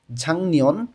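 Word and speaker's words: 작년: ঝাং নিয়ন গত বছর গিউক বাচ্চিমের পরে যখন নিউন আসে তখন এই গ টা অনেস্বরের মতন উচ্চারণ হয় তাহলে এখানে উচ্চারণটা হয়ে যাবে ঝাং নিয়ন গত বছর আসসালামু আলাইকুম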